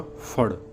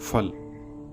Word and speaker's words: फल: उदाहरणतः फल का उच्चारण होगा फड़ ना कि फल।